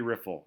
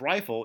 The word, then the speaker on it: Riffle: Got to be Riffle. If it was Rifle, it'd be like the gun, right?